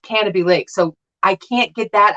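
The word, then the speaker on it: Canobie Lake: it's called canopy lake if anybody else sees the way it's spelled they say kenobi lake but it's pronounced canopy lake so i can't get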